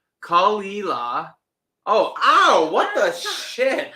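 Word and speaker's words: Caol Ila: Okay, so it's pronounced Kalila.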